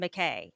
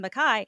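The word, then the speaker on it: MacKaye: was absolutely fascinating um what was it Benton McKay so he proposes m is the Scottish pronunciation oh so so Benton McKai he comes up with this idea of a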